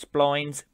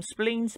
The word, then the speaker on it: spline: packs, textures, spleens slash splines. People pronounce them differently. I call them spleens, but if you ever hear the word spline, it's the same thing.